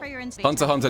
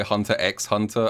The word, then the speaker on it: Hunter x Hunter: And also, just advance warning, I'm probably going to say Hunter x Hunter a few times, because I know, before someone yells at me, I know you don't pronounce the X, but sometimes I do.